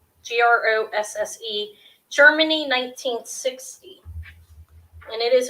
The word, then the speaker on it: Grosse: I don't know how to pronounce it, to be honest. It's Grosse.